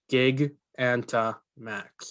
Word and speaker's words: Gigantamax: Gig Anta Max is how I would pronounce that.